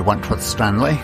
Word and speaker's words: Wentworth-Stanley: This is Wentworth-Stanley. I'm the fellow who has a hyphen in my name. The hyphen is silent, but I am anything but that.